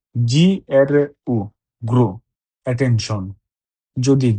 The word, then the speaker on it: gru: gua, N-T-I, guanti, inglese, I-N-I, G-L-L, S-S, inglese, gru, G-R-U, gru, attention. যদি জি এর পরে আক্ষা থাকে তাহলে এ এবং ই থাকলেও উচ্চারণ বর্গীকার্য হবে না বরং গ হবে।